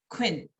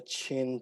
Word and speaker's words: Qin: But later expanded and rebuilt by the Qin Dynasty. So a lot of the buildings are just a few hundred years old. So Q is pronounced as a CH in Chinese. Yeah, very similar to a CH.